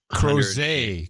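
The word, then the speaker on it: Crozet: and crows at virginia crows a crows biggest crows as you say that crows says it right there no crows a rhymes with Jose it's French you boneheads it's outside Robert that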